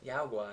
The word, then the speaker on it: guai: Guai.